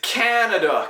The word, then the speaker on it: Canada: Dude, it's Canada, Canada. Emphasis, stress on the first syllable, Canada. And the reason is, in French, we don't stress syllables.